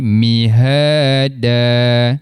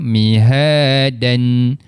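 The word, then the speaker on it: مهادا: Jadi mihada cuba mihada. Betul. Ha kita tak jelaskan tanwinnya. Kita tak baca mihaan ataupun kita tak matikan pada huruf dal mihada.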